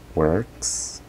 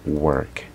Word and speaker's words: work: Muchos lo pronuncian work. No es correcto. Right? It's not correct. Aunque si usted quiere comunicarse, lo van a entender, obviamente. Pero si quiere mejorar su pronunciación, then the pronunciation de este patrón sería entonces, en la palabra work, sería OR el patrón y está representado por la imagen purple. Sería entonces work.